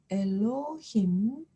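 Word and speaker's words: אֱלֹהִים: 밑에이 복합 시바가 왔을 때 고민하지 아니하고 새거를 발음해 주시면 되는데 에가 되겠죠 이것이 바로 하나님을 가리키는 히브리어 단어죠 엘로힘 마지막 복합 쉐바 쉐바 카메츠 하트이 만났습니다 그래서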